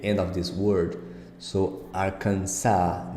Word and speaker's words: Arkansas: API uh transcription here you see that the S is not pronounced at the end so it's again Arkansas Arkansas California Colorado Connecticut look